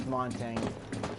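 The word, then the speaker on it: Montagne: I'm going to go with Montang here.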